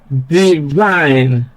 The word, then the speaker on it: divine: Then the second example, divine. Stress is on the second syllable, vine, because that syllable contains a diphthong I, while the first syllable contains a short vowel.